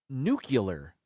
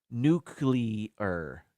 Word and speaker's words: nuclear: made this one popular he would say nuclear uh as if there was a a u after the sea it's before the sea and it's only before the sea nuclear nuclear just the way it's spelled where there's a CL there in the middle nuclear or the word clear nuclear nuclear you just have to enunciate it better nuclear yeah all right